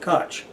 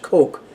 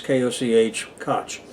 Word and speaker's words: Koch: what he pronounced it so that it rhymes with Scotch for example but generally speaking Koch in American versions of English is pronounced Coke the way the Koch